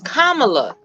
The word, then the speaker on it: Kamala: no kids I'm just telling you how to pronounce it it's Kamala now we're not going to do that I